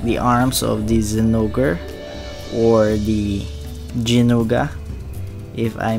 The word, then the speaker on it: Zinogre: In my last video, the unboxing, I mispronounced the name. Instead of Zinogre, I said Zinogre. Sorry that I butchered that name.